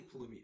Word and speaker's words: Pulumi: Terraform is no longer open source but thankfully Palumi is Palumi's Apache license.